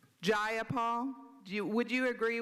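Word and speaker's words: Jayapal: you agree with Miss ja Paul that there was no takeover it was just if you're gonna say my name please say it right it's jaia jaia Paul do you would you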